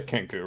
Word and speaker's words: Kenku: Poe's a Kenku, right?